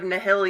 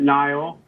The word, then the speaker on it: Nihil: not wrong you know you can say in the heel we pronounce it nile but it's uh it's